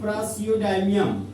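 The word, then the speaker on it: praseodymium: पीआर को बोलते हैं प्रासियोडाइमियम। ये प्रा हो गया, फिर सीओ, फिर डाइमियम। लेकिन नाम के अंत में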